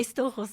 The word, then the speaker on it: Stoxos: É Storros, né? Nossa. É como Viu? é grego, mas é como se fosse alemão.